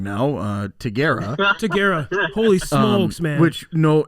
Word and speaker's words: Tigera: obviously we realized that we've been pronouncing the name wrong now uh taguera holy smokes man which no hey i mean